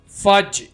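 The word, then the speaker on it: fudge: लाडला या लाडली पमपर्ड jaggery good jaggery jaggery फज यहां पर डी साइलेंट होगा।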